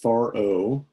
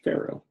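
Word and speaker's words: פרעה: you know so Frets so it's pronounced far o or in some other cases for English Pharaoh ah okay so Joseph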